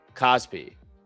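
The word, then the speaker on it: KOSPI: Pronounce. Cosby.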